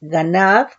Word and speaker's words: ganab: Aquí, hurtar, del hebreo 1589, que es ganab, con acento en la segunda A, que es raíz primaria,